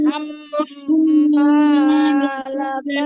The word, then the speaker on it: حمالة: حمالة الحطب الحطب হুম, এটাতে খেয়াল রাখবো আমরা যাতে এটা তা না হয়ে যায়, ত حمالة বলবো। الحطب এটা হচ্ছে তা, আর এটা হচ্ছে ত, দুইটা আলাদা আলাদা উচ্চারণ হবে।